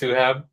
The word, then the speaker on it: Suhaib: Mine is pronounced Suab. The I always throws people off, so it's not a big deal at all.